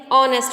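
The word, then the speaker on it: honest: बताया था चैप्टर में, इसे हॉनेस्ट नहीं बोलते, ऑनेस्ट बोलते हैं, ओ से है और वोवल की साउंड आ रही है इसमें, प्लस एच जो है साइलेंट है इसमें, और ये वोवल से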